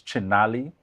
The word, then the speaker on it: Chinali: So we have on set with us, and did I get the pronunciation right? It's Chinali. It is perfect.